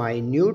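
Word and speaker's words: minute: करें please wait पर five मिनट्स को हम मी न्यूड प्रोनाउंस करते हैं मी न्यूड इस तरह इसकी मीनिंग भी बादल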